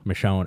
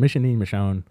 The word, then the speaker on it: Michonne: them to introduce uh Michonne I never know how to pronounce it m Michonne it's not michon she's like a wizard